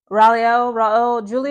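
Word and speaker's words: Raul Julia: right and I believe his name was rale R Julie is how you pronounce it sorry guys again I'm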